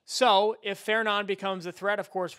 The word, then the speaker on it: Fernand: The next name on the list is FER NAD. You think it's Fernand, it's not. It's Feron.